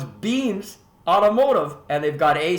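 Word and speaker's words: BEA²MS: Beams Automotive, B-E-A-M-S, like it sounds, except it's spelled B-E-A squared M-S.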